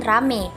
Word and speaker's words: ramai: vokal tunggal menoftong contohnya kata ramai diucapkan rame dan kedua kata petai